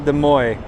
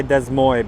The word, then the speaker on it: Des Moines: So this plane is going to Des Moines. I always want to say Des Moines because in my language you actually say you pronounce it the way it's like spelt.